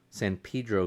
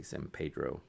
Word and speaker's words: San Pedro: The Browerage West Bounce IPA out of San Pedro, San Pedro, California. That's how they say it. They don't say San Pedro.